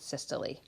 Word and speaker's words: systole: is called systole systole it looks like systole but they pronounce it systole okay remember that those